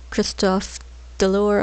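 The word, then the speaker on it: Christophe DeLorne: Leslie and Mole, or Christophe Delore, I believe is how you say his name correctly.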